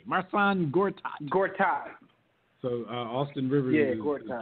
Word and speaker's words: Marcin Gortat: How you pronounce his name? Marcin Gortat.